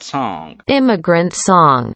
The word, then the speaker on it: song: Immigrant song. E aqui no song, que quer dizer canção, esse G aqui no final, ele é bem sutil, bem suave. Song. Quase nem aparece.